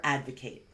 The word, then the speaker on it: advocate: as a verb so you can hear the pronunciation of the noun versus the verb is a little different the noun is Advocate